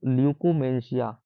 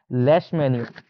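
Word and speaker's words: Leishmania: ठीक है, प्रोटोजोआ जो एक परजीवी होता है उसका नाम होता है ल्यूकोमेंशिया। मतलब इसका नहीं, ल्यूकोमेंशिया नहीं, इसका नाम होता है लेशमेनिया।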